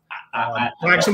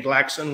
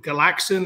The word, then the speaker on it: Glaxon: There's like I used to call it Glaxon, and then it's Glaxon, and there's people who call it Galaxon as if there's like an A before the L.